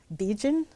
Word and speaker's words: Begin: from sure so uh it's pronounced Bean it's spelled um like begin and it's French Canadian and um my family